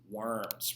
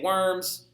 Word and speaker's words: Worms: Now, in English, you say worms. Nobody in German is going to correct you because they know that you don't know how to say it. But it's actually Worms, all right?